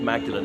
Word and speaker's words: Magdalen: e l n but the church me thinks is still pronounced Magdalene as St Mary Magdalene